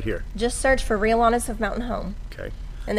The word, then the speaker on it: Rhea Lana's: Just search for Real Lanas of Mountain Home. Okay. And there's it's spelled RHEA space LANA as we have it on the screen on the graphics there.